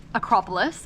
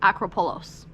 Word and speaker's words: Acropolis: I used to think the Acropolis in Greece was Acropolos. Apparently it's not, even though I think it's upright.